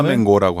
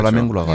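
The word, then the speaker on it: flamenco: 근데 우리는 대부분 발음을 플라멩고라고 하죠. 플라멩코라고 하죠. 발음 플라멩코.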